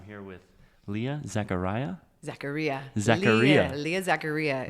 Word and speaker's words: Zaccaria: Leah Zaccaria. It rhymes.